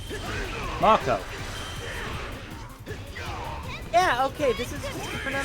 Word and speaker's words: Marco: And so, yeah, because I pronounce it Marco. You know, like Marco Polo. Marco.